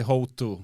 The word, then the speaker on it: Houttu: Yeah, we say Huttu in Finland, but yeah.